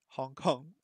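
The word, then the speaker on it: ホンコン: where's Hong Kong gone okay oh Hong Kong Hong Kong is the Japanese for Hong Kong so it turns out that the uh Japanese pronunciation for Hong Kong is based on the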